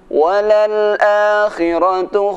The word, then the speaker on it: وللآخرة: Walal-a, bacaan a dibaca panjang 2 harokat.